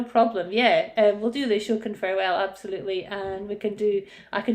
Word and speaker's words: Ashokan: I also love Astrakhan's Farewell. I think you played before. Oh, the Ashokan Farewell. Ah, I pronounced it incorrectly.